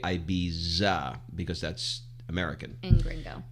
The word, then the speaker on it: Ibiza: truth but i know all the brits say ibiza with sticking the tongue out and we say ibiza because that's american and